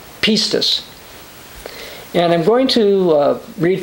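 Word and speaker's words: πίστις: the new testament be pronounced something like pistes and i'm going to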